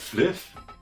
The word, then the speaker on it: Flyff: Da spricht man doch nicht Fly aus, du Vollidiot. Das heißt Fliff.